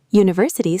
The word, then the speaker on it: university: University starts with a vowel letter, but a consonant sound, so we say a university.